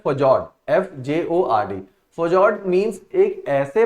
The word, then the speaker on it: fjord: ऐसे ही एक लैंडफॉर्म है, वहीं पे दे रखा था, जिसको प्रोनाउंस किया जाता है फजॉर्ड, FJORD।